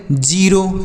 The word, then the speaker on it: zero: जड ई आर ओ जड ई आर ओ इसे क्या पढ़ेंगे जीरो जड ई आर ओ